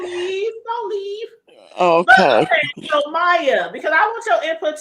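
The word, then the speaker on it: Maija: here to say this it's spelled what i j a yeah I pronounced Maya Maya thank you cuz that's what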